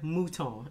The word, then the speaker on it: Mouton: think it's just because these are mouton and it's funny because let me wipe these off i'm from louisiana and that is a very common last name and i don't know if they pronounce it that way that's how we say it in louisiana so it's m-o-u-t-o-n um